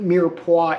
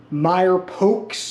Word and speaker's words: mirepoix: dishes so that's what mirepoix is all about and no it's not pronounced Meyer pokes or I don't know